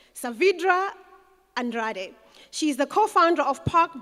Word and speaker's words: Saavedra Andrade: And she said to me, you've got to pronounce it with that accent. Saavedra Andrade.